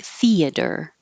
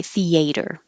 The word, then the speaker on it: theater: Um, the different spellings don't change the pronunciation. Whether it's ER or RE, it will still sound like theater. Theater. And much less common, but you may hear some people say theater.